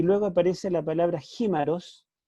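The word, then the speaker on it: χίμαρος: Y luego aparece la palabra jímaros, yo lo tengo ahí entre paréntesis, lo tengo escrito como se escribe en castellano, para que ustedes puedan pronunciarlo.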